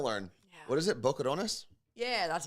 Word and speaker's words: Boquerones: Boquerones?